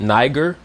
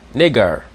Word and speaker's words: Niger: be pronounced nigger because the I will be pronounced like an E sound and the E will be pronounced like an A sound. You understand? So nigger, that's how they pronounce